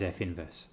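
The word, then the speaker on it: f⁻¹: for it looks like that's a negative 1 power but in fact this should be pronounced as f inverse and these two together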